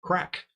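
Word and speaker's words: craic: correct maybe what's correct it's spelled c-r-a-i-c yeah you pronounced a crack having a good time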